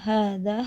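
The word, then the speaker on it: هذا: Fathah tegak pada huruf pertama dari hadza, hadhi, dan dzalika dibaca panjang. Simbol ini hanya terdapat dalam beberapa kata umum dan biasanya tidak ditulis. Pelafalannya hadza, hadhi, dzalika.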